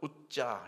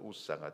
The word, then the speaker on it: 우사: 정확히 발음하면 우자 이렇게 발음합니다. 우자. 근데 한자식으로 좀 발음해서 우사가 되었는데요.